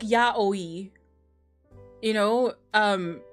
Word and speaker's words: yaoi: I think the thing is, it's pronounced like Ya Oi. You know, um like Ya Oi, because they they have their their syllables like the exact same length in Japanese unless it's an O with a a top on it.